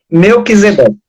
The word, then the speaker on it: Melquisedeque: Pronuncia aí, padre, que eu não sei pronunciar. Melquisedeque.